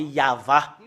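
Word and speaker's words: יהוה: Yod, He, Vav, He, c'est ça qu'on le prononce, c'est Yahva.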